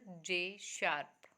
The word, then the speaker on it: J#: जे के बाद में जो हैश लगा हुआ है इसको शार्प पढ़ते हैं। ठीक, तो ये लिखा हुआ भी है यहाँ पर, प्रोनाउंस्ड एज विजुअल जे शार्प।